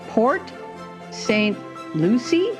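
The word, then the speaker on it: Port St. Lucie: and she lives with her partner in P Port St Lucy is that how you say it it is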